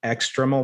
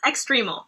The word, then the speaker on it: extremal: you you focus also on external black holes am i pronouncing that right extremal extreme good this is exactly